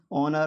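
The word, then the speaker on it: honour: ऑनर, ऑनर में H silent है।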